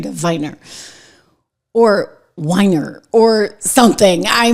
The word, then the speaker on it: Weiner: And so in German you would say Viner and I get into this fight with my producer.